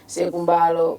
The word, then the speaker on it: Saihou Mballow: sunkar konto ngolo maji man slenje man fenje Saihou Mballow being also the name pronounced properly, special advisor to the president on political affairs.